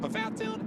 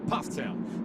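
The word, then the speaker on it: Pfafftown: from Ptown North Carolina it looks like paat toown it's pronounced Ptown so little education for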